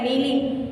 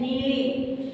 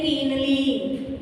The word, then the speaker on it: kneeling: The K is silent in this.